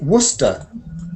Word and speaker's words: Worcester: We say Worcester. Worcester. Worcester. So you see, sometimes sester is sester, but sometimes it's unstressed, and it's just.